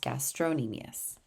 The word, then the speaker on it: gastrocnemius: the gastrocnemius it's spelled gastrocnemius but it is pronounced gastrocnemius the gastrocnemius is there for taking your foot